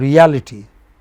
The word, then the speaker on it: reality: And reality, the second syllable from the left.